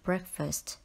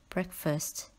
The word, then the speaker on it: breakfast: fast in the word breakfast do not pronounce this word as break fast word number 24 is